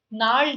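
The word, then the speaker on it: gnarled: is not the answer nald is the answer g is silent null nard is Twisted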